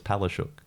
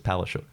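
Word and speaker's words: Palaszczuk: i'm not even kidding because you look at the the spelling of it it's palace it is and the traditional pronunciation is palashuk everyone else who goes by palushook is palestine but for her it's palestine because it's too difficult for queenslanders the one that's really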